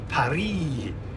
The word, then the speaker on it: Paris: it's a nice day heading to France to par sounds better when you pronounce it like that doesn't it Paris par right I've got